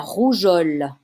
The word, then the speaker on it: rougeole: Don't forget the E. Otherwise, it's going to be rougeole. Okay? The E is there to make the soft G sound.